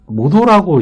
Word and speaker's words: 本: 이게 그렇다고 해서 이제 본어를 반드시 혼이라고 읽진 않아요. 그 모도라고 이제 사람 이름에도 좀 많이 들어가는데, 우리가 이제